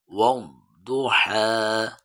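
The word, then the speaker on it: وَالضُّحَى: ওয়াদ-দুহা। ওয়াদ-দুহা। দদের উচ্চারণটা ওয়াদ্দু তু বললে শুধু দাল হয়ে যাবে।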